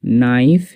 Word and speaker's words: knife: এরকমভাবে KNIFE নাইফ, KNEE নি।